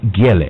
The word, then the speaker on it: Gele: Also, Gele actually said is the correct pronunciation of his last name.